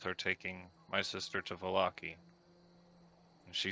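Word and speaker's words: Vallaki: Valakri? Is that how you say it? Valaki.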